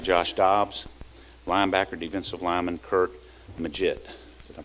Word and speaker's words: Curt Maggitt: Jones UM quarterback Josh dos linebacker defensive lineman Kurt maget did I pronounce that right yes sir good good thank